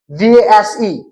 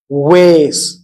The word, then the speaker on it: vase: In British English, it is VASE. It is pronounced in British English like was or was, was or was. While in American English, it is pronounced as ways.